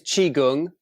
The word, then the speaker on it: Qigong: But it is Qigong. Qi, like Tai Chi, it's the other side of Tai Chi.